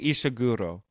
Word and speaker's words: Ishiguro: Well, how would it be pronounced? Ishiguro? Kazuo Kazuo Kazuo Ishiguro. Sure, that sounds good to me.